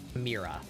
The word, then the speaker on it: Mira: And you pronounce the letter as if it were just like a word on its own. So it's Mira.